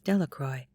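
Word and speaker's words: Delacroix: and Harry Jones and Dicky delaqua the villagers pronounced his name as delacroy eventually made a great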